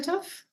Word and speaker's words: Tough: So PSA, Tough is my real name. It's pronounced Tooth in Scotland, but yeah, my name is Tough.